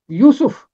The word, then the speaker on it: یوسف: کا تلفظ ہے یونس۔ اور اسی طرح یوسف، یہ کے اوپر بھی پیش ہے، سین کے اوپر بھی پیش ہے، یوسف، یونس۔ میکا، میکا اصل